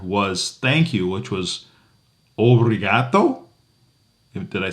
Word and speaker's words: obrigado: And the last word of the day that we learned was thank you, which was obriato.